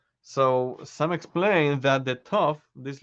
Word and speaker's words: Tov: Okay, so it could be a Sof or a Tov. The Ashkenazi pronunciation, if the letter has a dot, it's called a Tov.